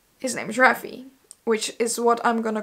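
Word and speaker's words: Raffe: I don't know so my brain immediately is just like roughy and it's how I've been calling him a phrase and ever since I started reading the book so his name is Rafi apparently so anyway Rafi is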